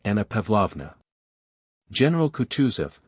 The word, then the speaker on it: Kutuzov: "General Kutuzov," said Bolkonski, speaking French and stressing the last syllable of the general's name like a Frenchman, "has been pleased to take me as an aide-de-camp.